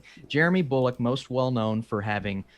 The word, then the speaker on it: Jeremy Bulloch: Actor Jeremy Bullock Am I pronouncing Yeah. that correctly? Jeremy Bulloch, most well known for having sported the original